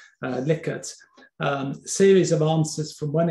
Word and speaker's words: Likert: And then you can use the old favorite of surveys, which is the Likert scale, must pronounce that correctly, otherwise Steve will be after me, Likert, series of answers from one extreme to another, for example, extremely satisfied to extremely dissatisfied.